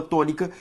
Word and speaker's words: tônica: A sílaba tônica, zer, ou seja, antepenúltima sílaba tônica, portanto, proparoxítona, e eu te falei que toda proparoxítona é acentuada. Se eu for separar tônica, perceba que a sílaba tônica é to, beleza?